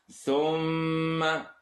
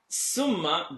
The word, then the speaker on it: ثُمَّ: ثُمَّ لَا يَمُوتُ فِيهَا وَلَا يَحْيَا Thumma. Bring the tip of the tongue out. Summa doesn't make sense here. Thumma, and I'm exaggerating, but if you did this, you'd be correct.